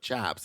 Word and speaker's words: chaps: Fun fact, the correct pronunciation of chaps is chaps.